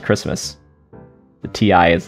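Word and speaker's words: Kiritimati: oh i see basically it's pronounced christmas the ti is like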